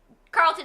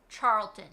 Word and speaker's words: Charlton: Carlton Heston.